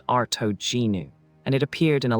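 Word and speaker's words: Artognou: The name was Artignu pronounced Arto Genu and it appeared in a Latin inscription that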